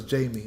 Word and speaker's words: Jamie: Okay, so it's Jamie. Okay, got you. I was just making sure because I know some people pronounce it as Jaime, and I'm like, I